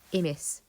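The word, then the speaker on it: ἡμεῖς: In New Testament times, both and are pronounced I. So that first word would be pronounced imis in both cases.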